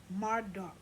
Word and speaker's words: Marduk: Bert Marduk, Marduk.